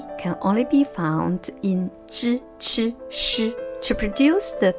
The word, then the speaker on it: zhi: To produce the three syllables, zhi, chi, shi, we must raise up or roll up the tip of the tongue so as to squeeze out air from making zhi, chi, shi sounds.